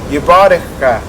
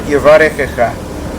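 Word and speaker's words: יברכך: want to note that the Halabi tradition is to pronounce that first word, Yebarekh-kha, which is not like most other communities do. Other communities pronounce that word Yebarekh-kha.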